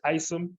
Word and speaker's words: Isom: our promise nice um I esum or Isom I'm and please give me the correct way to say your name go ahead hey Scott thank you my name is Isom long eye okay I got it